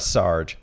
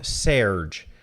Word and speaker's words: Serge: No, it's not Sarge. I thought it was Sarge. It's spelled S-E-R-G-E. But apparently it's something closer to Serge. The Japanese hiragana reading is Serge. So I'm going to call him Serge.